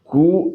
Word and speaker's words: coup: there have been several कू attempts, कू का spelling COUP लिखिएगा, कू attempts against the